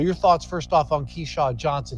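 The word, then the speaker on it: Keshad: Keyshawn Johnson now keyshot it's k-e-s-h-o-d but he pronounces the Keyshawn Johnson Keisha Johnson's a transfer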